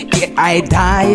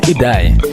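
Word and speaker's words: Idai: And I was laughing yesterday actually, looking at the comments, you know, in terms of the pronunciation of the cyclone there. Some people they say is I die, some people they say is it die, you know.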